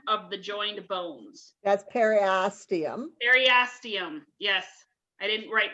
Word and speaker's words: periosteum: continuous with peristem of the joined bones that's periosteum eryastium yes i didn't write down that pronunciation that's okay it is formed by an